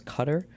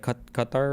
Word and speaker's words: Qatar: commentator mispronounce Qatar as Qatar? because the actual Arabic pronunciation of it's like Qatar or something and Qatar is the closest like English way to say it and Qatar is more incorrect.